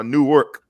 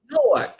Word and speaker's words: Newark: is one of the newark uh new work not new york newark new jersey pop